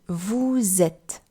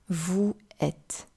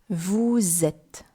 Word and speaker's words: vous êtes: So you heard me pronounce on est and vous êtes, and not on est, vous êtes. It would simply be too many vowel sounds together.